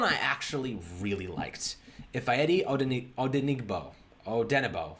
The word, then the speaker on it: Odenigbo: Ifeadi Odenigbo, right? Odenigbo. I think the G is silent.